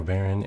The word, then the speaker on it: Varen: Or Varen, and that YC is silent.